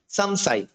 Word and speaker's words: সংশয়: দন্তস অনুসার আলব সন্তোষ সংশয়, এটাকে আমরা উচ্চারণ করবো সামসাই। অর্থাৎ এখানে শুধু বর্গীয় বর্ণের জন্য নসিক্ত উচ্চারণ হবে, বর্গীয় বর্ণ ছাড়া অন্য বর্ণ থাকলে আমরা ম উচ্চারণ করবো, সেটা প্রথম হোক বা শেষে হোক।